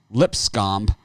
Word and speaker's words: Lipscomb: Lipscomb up against North Florida. I know it's Lipscomb, but I like calling it Lipscomb.